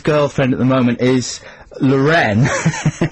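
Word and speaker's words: L'Wren: And I think the name of Jagger's girlfriend at the moment is Lorraine. Lorraine. And it's spelled L''WREN. Lorraine.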